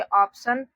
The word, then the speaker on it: option: पर ऑप्शन पढ़ते हैं, तो देखिए ओ से ओ, फिर यहाँ पर पी को आधा प पढ़ेंगे, TION यहाँ पर इसको हम लोग पढ़ते हैं सन, तो इसको हम लोग पढ़ेंगे ऑप्शन। इसका उच्चारण होगा ऑप्शन।